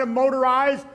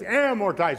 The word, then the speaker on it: amortize: It's not a motorize or amortize, it's amortize. Muerte, muerte.